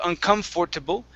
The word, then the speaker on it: uncomfortable: Okay, so the OR after the F is not pronounced. Okay, so instead of uncomfortable, it's uncomfortable.